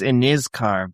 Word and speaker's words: Inizkar: My name's Iniscar, but thank you. Iniscar. Sorry. Sorry. I working on the pronunciation.